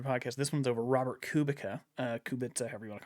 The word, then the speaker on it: Kubica: Kubica. Kubica is I think how you're supposed to pronounce it, but I'm not going to because it's not spelled that way.